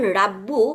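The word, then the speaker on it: رَبِّي: সো এখানে যখন রাব্বু plus E, আমি যদি এটা উচ্চারণ করতে যাই তাহলে আমার দেখেন উচ্চারণটা কিরকম হয়, রাব্বু ই। অ্যারাবরা দে আর just no রাব্বু E, this sound, এটা আমার কানের মধ্যে ভালো শোনাচ্ছে না। সো তারা ইজি গোয়িং, তারা সবসময় যে রাব্বু আমি রাব্বু এভাবে বলতে চাই না, আমি বলবো রাব্বি।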